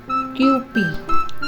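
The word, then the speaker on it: Kewpie: Kai itong 1 Island So yung pronunciation nito guys ay qp now we know '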